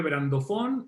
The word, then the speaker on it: brandofón: Se escribe brandofón y se pronuncia brandofón y significa lo mismo en español y en inglés.